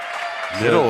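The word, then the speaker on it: Midel: Middle on the outside. Yeah, middle on the outside. Yep. And it is spelled M I D E L, but it is pronounced middle.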